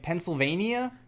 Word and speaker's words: Pennsylvania: Like Pennsylvania? Pennsylvania. Like They keep Transylvania? saying Pennsylvania with an extra syllable, which Yeah.